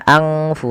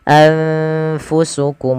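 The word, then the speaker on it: أنفسكم: Anfa, anfu, anfu, bukan angfu tapi anfusukum mustakbartum.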